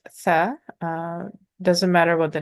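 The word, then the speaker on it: ثاء: Say if you were saying the sound for seen, but you had the tip of your tongue between your teeth or touching the top teeth, like for zal, exact same placement of the tongue, the tip of the tongue.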